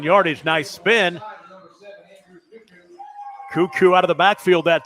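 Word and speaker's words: Kukuk: talked much about Andrew cuckoo's name you spell it k-u-k-u-k looks like it is cuckoo second down and seven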